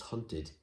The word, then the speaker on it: haunted: you have hunted it sounds like hunt id doesn't it id but it's haunted still spelled with an ed wanted planted okay yourself